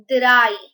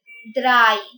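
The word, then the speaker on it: drei: w e i zy three is said as dry dry d r e i before is said as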